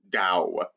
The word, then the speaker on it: Tao: t or a d regardless of how you spell it you pronounce it with a d dao the dao de jing